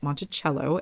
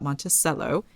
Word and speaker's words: Monticello: But CH was how Jefferson pronounced it.